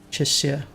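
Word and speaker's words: Chixia: It's not, so it's not the sh sound. It's an S. Or a s, chisya.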